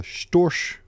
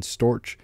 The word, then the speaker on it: Storch: I also don't really understand how that second sound in Storch is that CH that's pronounced more like an SH.